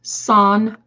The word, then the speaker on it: Sanpaku: It's pronounced Sanpaku. Sanpaku eyes, when the upper sclera, the white part, is visible.